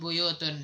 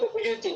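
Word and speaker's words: بيوت: Kalau kamus yang lain, Ini buyutin dia bilang. iya kan, makanya kayak Anda bilang, kadang kayak bacanya buyutun, kadang juga buyutin.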